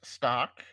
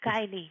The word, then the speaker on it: Kylie: are joined today by stock am I pronouncing your last name right actually is Kylie yeah Kylie okay so Kylie